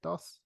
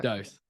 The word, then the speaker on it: DOSE: Is that how you say it? DOS? Yeah. Dose. Dose, sorry. Obviously, Dose.